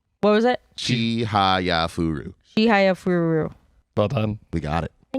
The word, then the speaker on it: Chihayafuru: Yeah, you missed one syllable. What was it? Chihayafuru. Chihayafuru.